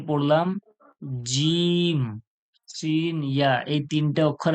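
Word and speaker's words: ج: দেখুন আপনারা জিম যে বলছেন জিবের মাঝখান থেকে, শিন যে বলছেন জিবের মাঝখান থেকে, ইয়া যে বলছেন ওটাও জিবের মাঝখান থেকে উচ্চারণ হচ্ছে।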